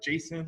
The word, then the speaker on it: JSON: files so there's a json here is pronounced uh jason like the person's name and uh then we'll